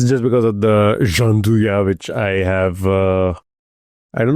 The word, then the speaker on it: Gianduja: You have, I think, the correct pronunciation. It's Gianduja.